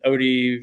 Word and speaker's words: Otey: I kind of pair Instagram and Facebook together, but if if you search OT and it's it's it's it's pronounced OD like overdose, but it's spelled O ty.